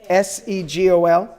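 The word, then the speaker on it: סֶגּוֹל: ah the next is the three dots that is the seagull it sounds like a se gol then we have the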